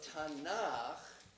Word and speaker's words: Tanakh: And though the letter Kaf becomes a hard K when it begins a syllable, when it ends a syllable, it softens down and becomes Ch.